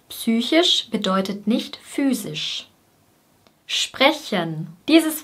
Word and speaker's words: psychisch: Psychisch, psychisch.